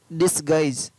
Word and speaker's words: disguise: DISGUISE, डिसगाइज। BEGUILE, beguile. CONTIGUITY, contiguity. ROGUISS, रोगिश। इन 4 words के अंदर GUE का उच्चारण है वो अलग अलग तरीके से हो